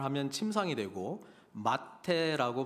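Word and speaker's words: מַטֶּה: 미타, 그러니까 영어로 하면은 MTH, 이 히브리 알파벳의 그런 자음이 MTH인데, 발음을 미타라고 발음을 하면 침상이 되고 마테라고 발음하면 지팡이가 되는 것이거든요.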